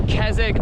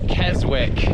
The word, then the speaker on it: Keswick: to this place called it's either kesic or Keswick by the laws of weird English pronunciations it's probably kezic but it's spell like Keswick so W car this